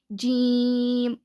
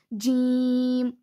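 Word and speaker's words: ج: It is pronounced when the center of the tongue touches the upper palate.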